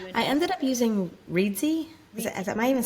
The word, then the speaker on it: Reedsy: Did you I ended up using Reedsy.